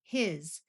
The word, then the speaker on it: his: Here's our new word for this lesson, his. This is another word where S sounds like a Z.